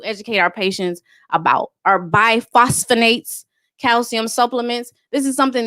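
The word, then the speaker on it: bisphosphonates: Biphosphates. No, I said it right. Biphosphonates, guys. I put biphosphates here, but it's biphosphonates.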